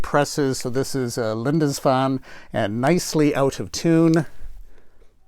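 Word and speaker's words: Lindisfarne: i'm pronouncing it correctly linda's fan i think that's pretty close it's probably not i think the r is silent so it's a linda's fun and so i was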